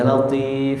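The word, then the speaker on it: لطيف: Jadi kalau kita baca ya latif pakai apa itu? Pakai to. Ya latif, ya latif, ya latif.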